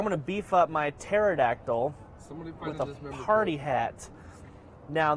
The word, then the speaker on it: pterodactyl: I'm going to go ahead and beef up this pterodactyl. Is it pterodactyl or is it pterodactyl? Pterodactyl. The P is silent.